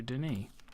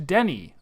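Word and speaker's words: D'ni: a link back here to Denis Oh to Denny oh I've been I've been saying it wrong he he was saying Denny is the place where he is all right July 2nd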